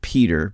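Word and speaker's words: Petr: I believe that it's pronounced Peter, but it's spelled P-E-T-R, Svab, S-V-A-B. S-V-A-B. So Peter Svab.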